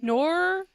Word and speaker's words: noir: a noir. What's the Noir. N? Noir. Noir. Like N-E-W-A-R-E. No, Noir. But it's spelled N-O-I-R, Yeah.